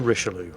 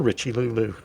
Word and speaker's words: Richelieu: this is a regular tech tree ship the richelieu or as i like to call it the richie lulu because mispronouncing the names of things is one guaranteed